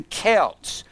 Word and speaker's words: Celts: of the old ancient son festivals of the Celts now if you're going to study Halloween you're